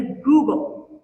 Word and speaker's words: googol: Change them by even one part in a googol, and atoms wouldn't form. Stars wouldn't burn. Life wouldn't exist. And when I say Google, I am not talking about a tech company. I'm talking about a googol, which is spelled G-O-O-G-O-L.